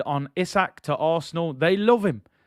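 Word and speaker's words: Isak: about your boy issac i was calling him isaac somebody told me it's issac so i'm gonna try and get the pronunciation right as i said before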